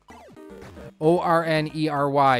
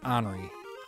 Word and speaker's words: ornery: know finding a job is a full-time job o r n e r y is the correct spelling and ornery is the correct pronunciation I will never understand people who pronounce it hory it's not how it's spelled yeah and this